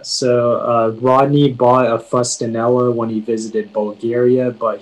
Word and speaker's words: fustanella: uh your word is fustanella um can you give me the language of origin uh fustonella is an italian word may i have any alternate pronunciations um it can be pronounced fustanella or fustanella may have the definition